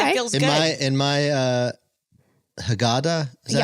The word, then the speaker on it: Haggadah: my Haggadah. Is that Yeah, how you say it? Haggadah.